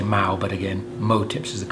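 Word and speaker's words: MOW tips: flies you want these level type tips called mo tips mo w some people say now but again mo tips is the correct pronunciation and these are this is one is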